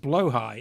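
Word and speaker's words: Blåhaj: Actually, Rendescape, it's pronounced blowhigh. Is that true? How do you say blahaj? I've always said blahaj, but I've never heard anyone say it out loud, so I don't know.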